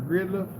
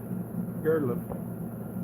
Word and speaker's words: Girdlove: So, add, is that pronounced Girdlove? Or Gridlove? Girdlove. John Girdlove's wife, need to add her to the prayer list.